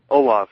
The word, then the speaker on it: Olav: and I hope I'm pronouncing your name right as an olav alab Olaf yeah you got it right hold on all right